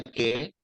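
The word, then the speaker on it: καί: Vemos en la columna de la izquierda la partícula kai o que, se pronuncia que, porque el diptongo de alfa y iota, hay un iotacismo allí, se pronuncia como e, se pronuncia como e.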